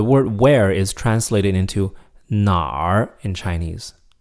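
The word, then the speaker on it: 哪儿: And make sure that you know the difference between 那儿 with a fourth tone, meaning there, and 哪儿, meaning where, with a third tone. 那儿, 哪儿, 那儿, 哪儿.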